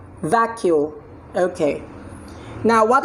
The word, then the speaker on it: vacuole: have it's that Q it's two syllable the Q everybody vah vah q vacuole okay now what letter